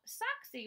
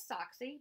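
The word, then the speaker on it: Soxie: a rescue dog so she spelled like the ball team socks s o X and I added the IE for fun so that's how she got her name and her name is sock C but you see I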